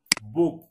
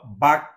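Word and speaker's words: book: হয় ও হয় অথবা সরা হয় যেমন যেমন বুক এখন এটা তো বাক কইলাম না এটার উচ্চারণ তো এর মত না এর মত হইছে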